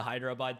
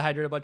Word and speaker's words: Hyderabad: the Philippines for you know before the the Hyderabad trip so is that I pronounce it okay perfect yeah before the hydro boat trip I'll be stuck in the Philippines for